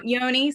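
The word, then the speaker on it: Johne's: Yonies. Yeah, okay. Yeah, It's sorry, like it's weird. John's with an E I and know, I know, it's spelled one way and you say it the other way, and I'm like, oh, yeah.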